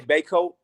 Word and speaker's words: Bacote: Yeah, my family's originally from the East Coast. They say Bakot. When I'm Bacote. west, it's Bacote. It's Bacote.